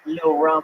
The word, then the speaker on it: Lil Rum: Oh, little rum. Wait, what just happened? That's how you pronounce his name. Is Lil Rum.